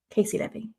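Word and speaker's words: Caissie Levy: Is it Casey Levy? It is. That's how you say it, isn't it? Cassie Levy. Casey Levy.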